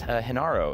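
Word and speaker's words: Genaro: It was, I think I said the name wrong actually, and I think it's Hinaro. Is that correct? I'm so sorry. I think I might have said Gennaro yesterday, but Hinaro, congratulations on that.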